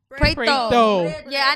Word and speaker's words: PRETO: Y'all Preto. In here. What's good? It's PRETO. PRETO. Are you hear the tongue? That's the PRETO. Is that the Spanish in you? Portuguese.